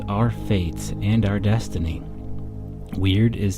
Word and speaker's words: wyrd: within yourself part one weird weird pronounced like the English word weird but spell the wyr Dean is a Norse